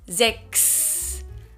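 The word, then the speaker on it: sechs: called sex or it's pronounced sex like an x in german there are some words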